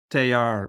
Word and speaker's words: Teilhard: And both about your teacher and thank you for also correcting my pronunciation of Oh, Teilhard.